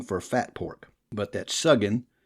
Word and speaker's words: suggin: On inquiry, I learned that old Ned is merely slang for fat pork, but that suggin, or sudget, the U pronounced like the O in look, is true mountain dialect